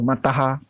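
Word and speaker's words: mataḥ: Atau mataha. Kalau bahasa Sanskertanya bacanya mataha.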